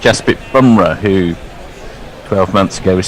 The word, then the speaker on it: Bumrah: pronunciation the other day you seem to be waxing and waning between bunra and bamra he says it's bumra um warren says uh